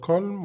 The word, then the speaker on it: calm: خلي بالنا كلمة calm ليها نطقين، ممكن أقول calm وانطق ال وممكن تبقى ال silent تبقى calm.